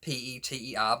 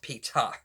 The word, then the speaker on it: Peeta: okay close PE ETA so it is literally pronounced peach ha rather than Peter the more popular way